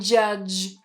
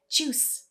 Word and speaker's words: judge: Make sure that you're pronouncing it quite strongly because what many Spanish speakers will do is they will soften it. They will make it voiceless and they'll say something like choose.